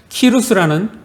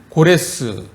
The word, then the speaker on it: 키루스: 고대 중근동 역사를 보면 키루스라는 인물이 등장합니다. 키루스는 태양을 뜻하는 크로스에서 유래되었다고 합니다. 자, 성경에는 히브리어 발음인 고레스 왕으로 기록되어 있는데 세계사의 관점에서 키루스로 발음합니다.